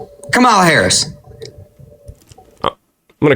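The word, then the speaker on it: Kamala: Kamla, pronounce it correctly. Go. Camala Harris.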